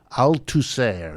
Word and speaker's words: Althusser: Althusser is how they pronounce it, Althusser.